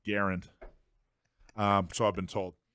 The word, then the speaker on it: Garand: oh yeah actually it's Garen Garen actually it's pronounced Garand um so I've been told all right uh